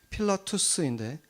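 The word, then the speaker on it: Pilatus: 빌라도가 이제 그 로마식 발음으로는 필라투스인데, 그 필라투스라는 그 돌 비문이 발견이 된 거죠.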